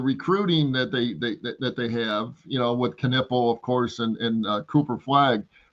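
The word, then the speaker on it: Knueppel: That's somebody I would, of course, Cooper Flagg you want on your team, but like that Knoppel or however you say his name. I mean, that's Knipple. a guy. It's Knipple.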